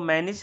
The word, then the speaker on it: Mannich: इस रिएक्शन को मैनिस रिएक्शन या मैनिक रिएक्शन दोनों ही प्रोनाउंस करते हैं।